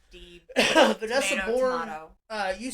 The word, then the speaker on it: Deeb: I believe it's pronounced Deeb. I say Deb a lot just because that's how it's written. It looks to me, but Deeb.